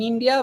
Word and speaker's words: hindi: So hindi or hindi French hindi because they do not pronounce h sound but in India we have a sound we can also pronounce hindi or indi both are correct may but parfua so